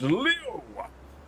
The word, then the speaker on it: Leo: It is written with the KJI for lion. Sure, but it's pronounced Leo.